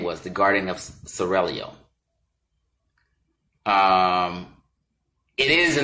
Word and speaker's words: Seraglio: Pronounce it Seraglio. I gotta roll the tongue, excuse me.